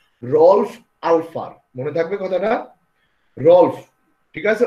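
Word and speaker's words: Ralph: Rolf, ঠিক আছে? ওই যে রেড লিফ কলম ছিল না আগে, রেড লিফ, রলফ উচ্চারণটা খেয়াল রাখবা।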